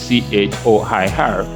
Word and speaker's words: choir: That's the way they used to spell it before it changed to CHOIR. It used to be QUIRE, which is a clearer representation of how it should be pronounced, choir.